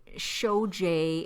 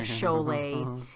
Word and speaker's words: Sholay: made my hindi song he said show J instead of Sholay he totally butchered Swami